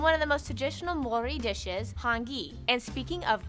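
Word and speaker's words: Māori: Korea and Japan yes by the way it's pronounced Mori not mayori Maori they use the New Zealand dollar as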